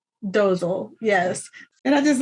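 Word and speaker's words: Dozle: If they named him Dozel, that is funny. It's spelled D-O-Z-L-E, Dozel.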